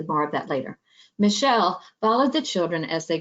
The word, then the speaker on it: Mischel: test by Walter Mischel I know it's spelled funny but it's Michelle it's less and and